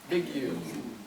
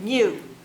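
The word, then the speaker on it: μ: Population mean, Big U. Big. mu. Me and you. Mu, just like the Pokemon, mu.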